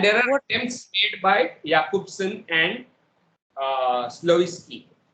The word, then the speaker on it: Jakobson: Sir, we usually pronounce Jacobson. That's why it's confused. Okay. He actually his name is pronounced as Jakobson, right?